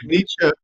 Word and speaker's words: Nietzsche: Murphy, you were talking about Nietzsche, or how do you pronounce his last name? Right, Nietzsche.